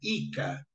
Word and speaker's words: JCA: trabalhar na agricultura tá esse JCA que era pronunciado como se fosse um i não J eles falavam ica JC seria ica mas falava ica colonization Association criou colônias